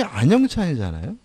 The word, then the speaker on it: 안영찬: 예를 들어서 제가 참 저는 항상 재밌는 걸 느끼는데 제 이름이 안영찬이잖아요. 근데 이렇게 정확히 적어도 이거를 안영환이라고 읽는 분이 가끔 계세요. 안영환.